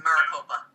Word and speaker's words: Maricopa: I have to use the bathroom, by the way, so Maracopia. just keep talking. I'll be Mike, back. he was right. It's Maricopa.